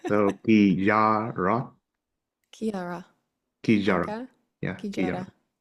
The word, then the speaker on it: kijárat: how do you pronounce it? Because I was always saying Kijaret. So kijárat, Kiara.